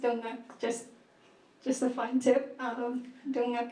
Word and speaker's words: Torngat: I was thinking about accessibility also, but in the sense that in Northern Labrador, like the Torngat, it's pronounced Dunguk, just a fun tip.